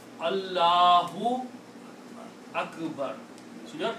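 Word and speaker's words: اللهُ: But when you say Allah, you don't say Allahu Akbar. You have to make the full pronouncing of the word Allahu. So remember, the actual word, the way it should be written, is Allahu.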